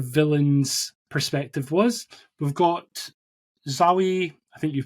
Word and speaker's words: Zawe: We've got Zawe, I think you pronounce her first name, Ashton, who plays a character called Dar-Ben.